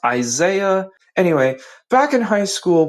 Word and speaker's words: Isaiah: Hey Brad, just in case if you got my name wrong, my name is pronounced Isaiah.